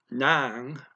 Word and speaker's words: ng: is could be marked by nong which is spelled again just ng and where is happening